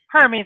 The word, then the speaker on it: Hermes: So Hermes, how do you pronounce it? Hermes is how we typically pronounce it.